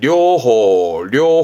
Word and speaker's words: 寮: 요게 시험 때 많이 보이는 건 이거 혼자만습니다 발음은 료입니다 뜻은 숙소 말하자 뭐라할까 기숙사음를 요라고 표현하죠 료 기숙사 이거를 세 글자로 써 가지고 이게 기숙사입니다